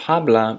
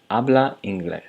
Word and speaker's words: habla: So, uh instead of habla, you pronounce uh you do not pronounce the h and just start at the a. Abla.